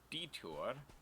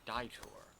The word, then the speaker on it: detour: quick start with a quick detour i almost said die tour who pronounces it that way not sure apparently you